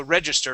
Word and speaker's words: register: see registered oh so register right here so the accent is at the beginning register stress right there